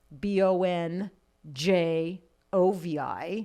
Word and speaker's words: Bongiovi: the regular so it's he just phonetically spelled it for the band b-o-n-j j o-v-i bon jovi it's hard to screw up when it's b-o-n like yeah jovi you can sound it out like that like hooked